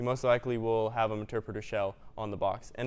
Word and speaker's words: Meterpreter: It's pronounced pronounced Meterpreter.